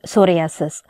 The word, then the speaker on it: psoriasis: to remember it easily p is silent in the word psoriasis so proximal interference joint